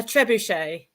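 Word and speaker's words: trebuchet: How do you How do you pronounce it? A trebuche.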